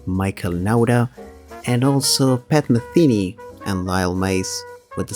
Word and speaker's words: Metheny: members of the audience, many Hispanics call Pat Metheny actually Pat Metheny. That's how most Argentinian people call him. I realized that that Americans say Pat Metheny after speaking with a lot of people from abroad and learning that, but yeah, it's quite a different pronunciation, and that happens with a lot of names.